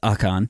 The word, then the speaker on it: Ocon: So Ocon, since I'm saying it wrong now, apparently it's Ocon.